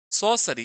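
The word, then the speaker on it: sorcery: सॉसरी, इसमें are silent है।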